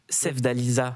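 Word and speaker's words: Sevdaliza: Ton morceau Alibi en featuring avec Sev Dalisa. Je l'ai bien prononcé.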